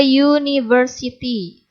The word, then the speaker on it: university: Bunyi awalnya, ini kan dibacanya university. Jadi U bacanya U ya.